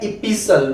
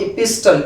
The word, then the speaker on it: epistle: ये आपका है इपिसल, नॉट इपिस्टल।